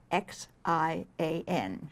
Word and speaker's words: Xi'an: Well, from Beijing, which is the imperial city, we go to a very, very interesting city called Xi'an, and you spell it X-I-A-N. Xi'an.